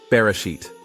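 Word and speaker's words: בראשית: Pronouncing barshet letter by letter. Bet sound like B as in boy. Rash sound like R. Olive sound usually silent.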